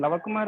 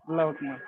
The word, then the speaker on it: Lava Kumar: Is it correct, Lava Kumar, or how does it pronounce? Yeah, it's fine. Lava Kumar also Lava fine. Kumar is correct. Okay. Lava Kumar.